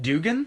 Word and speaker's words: Duggan: I don't know if you ever watched any old Mid South when Duggan was there, but they pronounced it Dugan, Yeah. but then they didn't anymore. Like, why was there never like a standardized like agreement on like how this man's name is pronounced?